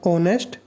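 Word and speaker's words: honest: का, क्योंकि आप इसको एच तो आपके पास ये लगा लो आप साइलेंट ही होता है, इसको आप ऑनेस्ट बोलते हो।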